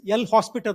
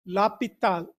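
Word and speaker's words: L'Hôpital: used to call this l hospital rule but don't pronounce like this it is laal Rule H is silent that so famous mathematician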